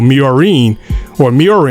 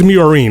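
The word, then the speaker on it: Miorine: instead of a rival, Miorin, or however, I think it's Miorin. I think that's the correct pronunciation.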